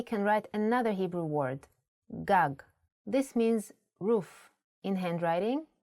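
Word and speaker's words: גג: In Hebrew, the vowels are often not written. You would know that this word is pronounced gag because it has been taught to you before.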